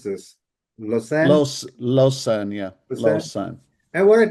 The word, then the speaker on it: Lausanne: How do you pronounce this? Lausanne? Lausanne, yeah, Lausanne?